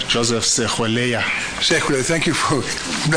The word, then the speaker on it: Sekhuleya: Sekhuleya, thank you for pronouncing it for me.